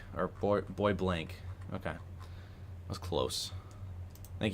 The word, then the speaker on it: Bois Blanc: Bois Blanc, or Bois Blanc. Okay. That was close. Thank you for the pronunciation correction.